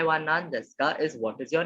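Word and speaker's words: なんですか: So here you see this U is again there, right? So you do not pronounce the U. So it's like O na ma e wa nan des ka.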